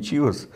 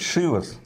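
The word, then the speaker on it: Chivas: Я слышал, у тебя есть 18-летний Чивас. Или, как правильно говорить, Шивас. Шивас Ригал. Оказывается. Да, оказывается, Шивас, Шивас.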